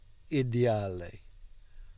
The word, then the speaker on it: ideale: Non è ideale. Non è ideale. Non è ideale. Good, but careful not to pronounce 2 L's on the end there. Ideale. No, we want to say ideale. Non è ideale.